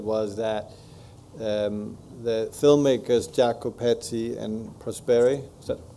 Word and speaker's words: Jacopetti: I understand it was that um the filmmakers Jacko petti and prosper is that correctly pronounced yes um were very interesting I find